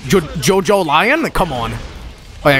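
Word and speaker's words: JoJolion: Jojolian? That's not how it's pronounced. Jojo Lion?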